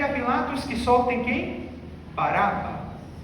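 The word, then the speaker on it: Barrabás: Baraba. Baraba, pronuncia assim porque é a forma de pronunciar correta. Bar que significa filho. Abá pai. Filho do pai.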